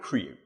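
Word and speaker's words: CRIU: refer to it true it's not an easy word to pronounce because it doesn't really have quite the right letters in it but we call it crew it's a linux project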